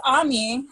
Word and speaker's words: Ami: Ami, it's something that I've actually said my own name wrong before. It's been really embarrassing. That's how you know I'm westernized. So it's Ami.